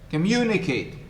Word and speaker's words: communicate: louder and is longer for example communicate the second syllable is stress mu communicate communicate we have how many syllables in the world communicate can you me four the second one is the stressed one and so you in